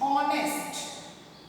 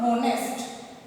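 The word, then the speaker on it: honest: I repeat, ऑनेस्ट, नॉट होनेस्ट, इट्स ऑनेस्ट। यहाँ पे H silent है और हम अकॉर्डिंग टू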